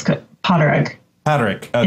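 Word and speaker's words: Pádraig: Potterig. Potterig, okay. It's the Gaelic for Patrick, but it's Potterig. Potterig. It depends on the region. In some areas, the D is silent. In some, it's not.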